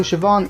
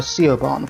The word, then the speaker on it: Siobhan: go through it quickly also sioban is how you pronounce her name even though I might have been calling her Coban for a while shoban will be a